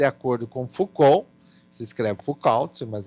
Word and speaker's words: Foucault: Então, nós vamos caracterizar as suas práticas de acordo com Foucault, se escreve Foucault, mas é Foucault, é francês Foucault, Peschel e eu diria assim, Farclose.